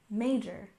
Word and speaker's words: major: history next we have major stress the first syllable major major this is the specialty